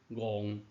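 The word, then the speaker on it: 戇: 戏红仔受控制来娱乐人，所以读音就是我这字娱，读音戆。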